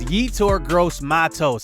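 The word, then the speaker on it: Yetur Gross-Matos: I actually looked up this guy's name it's heat or gross Matos I've been saying it wrong this entire time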